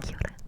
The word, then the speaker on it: kia ora: kia ora, kia ora, and it's spelled K-I-A, kia ora, kia ora, and it's two words, but it's pronounced as one, and it kind of just rolls off your tongue, kia ora, kia ora, kia ora.